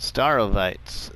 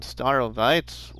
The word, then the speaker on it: Starowies: to pronounce it, and I listened to Mr. Sealy P and he pronounces it Starowies. So I hope that I'm saying it hopefully correctly or almost correctly.